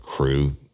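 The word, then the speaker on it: krewe: crime friends fans and crew crew being spelled with a K that's a Louisiana uh term marra thing k r e we and we have 25,000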